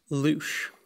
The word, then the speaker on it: louche: The word in question rhymes with the French words for shower, fly and mouth. Trinity Hughes. Louche.